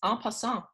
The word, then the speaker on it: en passant: So this week's topic is en passant. It's French. I will spell it for you.